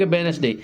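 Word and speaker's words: Wednesday: है जैसे आपका लिख वेडनेसडे इसमें क्या होता है डी साइलेंट इसे क्या पढ़ते हैं वेडनेसडे पढ़ते वेडनेसडे नहीं पढ़ते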